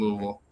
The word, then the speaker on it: Louisville: She's from Louisville. Okay. And she's taught me that it's pronounced Louisville.